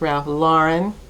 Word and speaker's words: Ralph Lauren: So, thank you to the subscriber who informed me that it is pronounced Ralph Lauren and not uh Ralph Ralph Lauren.